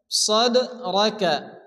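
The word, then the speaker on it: صَدْرَكَ: নাশরাহ নাশরাহ, লাকা লাকা, সাদরাকা, এখানে সাদ দাল জবর সাদ হবে এবং দালের উপরে কি আসছে জজম, দাল কলকার অক্ষর হালকা ধাক্কা দিয়ে পড়তে হবে।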